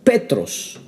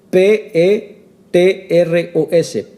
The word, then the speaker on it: petros: Pedro la palabra original que aquí habla es petros que se escribe P E t r o s petros que significa esa palabra petros significa piedra